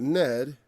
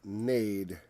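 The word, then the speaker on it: נד: That's not ned, it's nade.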